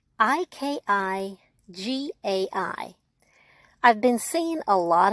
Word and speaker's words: Ikigai: It's called Ikigai, and it's spelled Ikigai.